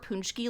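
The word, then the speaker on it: pączki: If they saw the word Punchki like written out, I don't think they would think it's pronounced like that at all.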